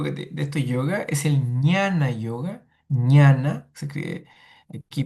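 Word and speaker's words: jnana: Y el último y el último de estos yo de estos yoga es el ñana yoga. Ñana se escribe aquí.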